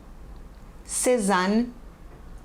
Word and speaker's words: Cézanne: Pronúncia dos nomes: Renoir, Sisley, Cézanne, Monet, Klimt, Degas, Seurat, Gauguin, Toulouse-Lautrec, Munch, Vincent van Gogh.